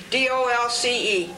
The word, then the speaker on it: Dolce: D O Lce. But how did you say it? Dolce is the real way to pronounce it.